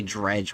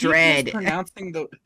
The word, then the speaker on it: dread: Oh no, I already dredged what the content farm was going to do. Dredge? How? You keep Dread. You keep mispronouncing the word dread as dredge.